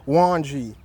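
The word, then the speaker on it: Ouandji: last name O-U-A-N-D-J-I. Pronounce Wanji. Wanji.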